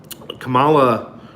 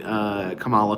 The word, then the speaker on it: Kamala: Kamala, it's pronounced. Is it Kamala? The new Biden's vice president, but not vice president yet, but vice running mate. Joe Biden's running mate. Her name is not pronounced Kamala. That's not the same. It's Kamala. Kamala. Not Kamala, the Ugandan giant. Kamala, the Democratic vice presidential pick. It's spelled the same way, though.